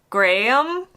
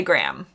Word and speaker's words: Graham: it out more so it's not Graham it's gram gray gray gram gram in of Graham maybe but in America we say Graham that's how I would say Graham there are people who